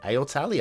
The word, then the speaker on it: aortali: It could be aortali. I think we should pronounce the A for some reason though. As in aortic. Yep, aortali I'm going.